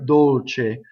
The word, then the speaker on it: dolce: going on que corre Dolce K cool Dolce I doubled the C notice how I did it it wasn't a hard doubling it was just a little space Dolce closed Oh sous-sous